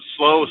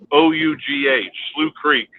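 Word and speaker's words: Slough Creek: write down quad um some people pronounce it slow some sloot creek it's s-l-o-u-g-h slew creek now right in the middle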